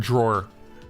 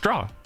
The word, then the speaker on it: drawer: to say the word drawer like you put things in a drawer that's not raw yeah like i knew i knew how to spell the word but like it's pronounced draw like you don't like